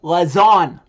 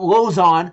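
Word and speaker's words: Lauzon: him say Jeremy loon it's Jeremy lazon okay not loon lazon okay how the heck hard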